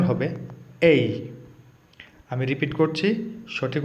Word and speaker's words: A: আজকে আমরা মজার একটি ক্লাস নিয়ে চলে আসলাম।